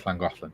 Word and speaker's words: Llangollen: So Llangollen is spelled double L, ANGOLLEN. It's Llangollen.